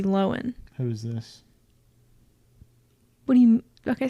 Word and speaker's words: Lohan: know Lindsay Lohan Lindsay people call her Lindsay Lohan but it's actually Lindsay Lohan who's it when he